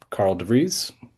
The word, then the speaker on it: Karl de Vries: Um, Carl Dere, take it away.